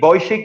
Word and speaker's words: Vujicic: Estamos hablando, algunos lo pronuncian como Nick Vujicic. Yo lo pronuncio Nick Vujicic, porque un día lo escuché y dijo Nick Vujicic, ¿no?